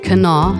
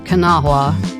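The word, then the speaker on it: Kanawha: And that's said Cana, not Canaha, not Canaha, Cana.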